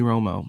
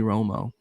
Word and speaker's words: Romo: quarterback is named Tony Romo, and he's notoriously known for choking, and his name rhymes with homo.